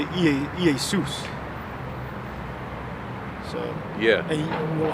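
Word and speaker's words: Ἰησοῦς: Because the J is a stylized I. So in the Greek, you would say Iesus.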